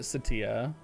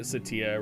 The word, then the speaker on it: Ce'tia: assault version potentially uh i am pronouncing it satia hey flanks i'm doing